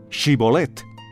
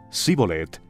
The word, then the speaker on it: Shibolet: Si él contestaba, no, ellos decían, muy bien, di Shibolet. Si decía Sibolet, porque no podía pronunciar la palabra correctamente, lo agarraban y allí mismo, en los vados del Jordán, lo degollaban.